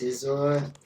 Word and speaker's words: Scizor: It's pronounced Scizor.